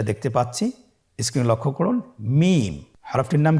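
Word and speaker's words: ميم: মিম। হরফটির নাম কি? মিম। মিম হরফটি উচ্চারণের ক্ষেত্রে অবশ্যই বারিক হবে, পাতলা হবে এবং তিন আলিফ টেনে উচ্চারণ করতে হবে। আমার সাথে আরেকবার চেষ্টা করুন। মিম আবার বলুন মিম হরফটির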